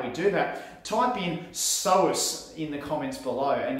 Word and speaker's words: psoas: do that type in psoas in the comments below and you're spelled p-s-o-a-s there's a silent p in psoas okay so type